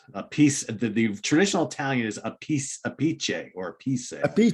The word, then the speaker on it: Appice: He said the real way to say it is a piece. The traditional Italian is a piece, a pice, or a piece.